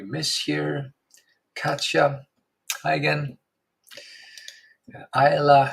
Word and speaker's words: Isla: Ayla, I believe you pronounce it like that. Silent S, right? Ayla, Isla.